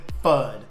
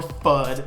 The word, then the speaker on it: FUD: just what is fun besides rhyming with mud and both things do